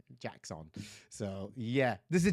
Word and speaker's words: Jaxxon: It was Jackson. I know it's spelled Jaxxon. Jackson.